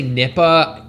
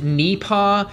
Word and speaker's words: Nipah: Human to human well I've seen a lot of like British people say Nipa it seems to be pronounced Nea kind of like oh my God I got a spider on my knee paw you get it it's